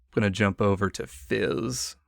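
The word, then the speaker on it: Fiiz: to jump over to Fizz and that is spelled f i i z for the listeners at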